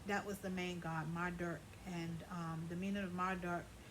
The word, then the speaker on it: Marduk: Bert Marduk, Marduk.